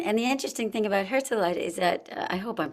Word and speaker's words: Herzeleid: And the interesting thing about Herzeleid is that I hope I'm pronouncing it right. No, that's exactly right. Let's just say, okay, Alison's pronouncing it Herzeleid, so that's the way it is, okay?